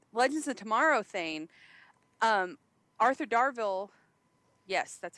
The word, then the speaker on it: Arthur Darvill: um the uh Legends of Tomorrow thing um Arthur darville yes that's how you say his name uh